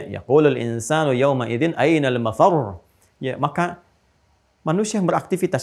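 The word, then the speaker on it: مفرّ: Fa idza bariqal basar wa khasafa al-qamar wa jumi'a asy-syamsu wal qamar, yaqulul insanu yawma idzin ainal mafar. Mafar ada tasdidnya tuh.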